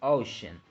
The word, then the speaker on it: ocean: And then we can move to the second syllable, which is shen. We can notice that the first sound is like a sh, and this sound is represented with this elongated s of right here.